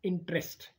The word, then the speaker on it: interest: right next word is interest now here the t is interest the e is not pronounced after t is interest the e